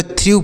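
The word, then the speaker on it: through: करते हैं नेक्स्ट है टी एच आर ई डब्लू इसे क्या पढ़ेंगे टी एस से थ पढ़ेंगे उसके बाद है आर से र पढ़ेंगे ई डब्लू से बड़ी की मात्रा और व लिख देंगे तो थ्रू पढ़ेंगे टी एच आर ई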